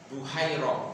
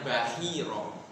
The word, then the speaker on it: Bahira: Rahib ini namanya kalau kita di Indonesia Buhaira kita ngenalnya. Tapi sebenarnya membacanya Bahira ya.